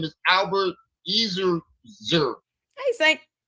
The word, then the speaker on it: Ezerzer: Woodside, and the other dude name is Albert Ezerzer. Hey, Saint. Ezerzer. It's spelled E-Z-E-R-Z-E-R.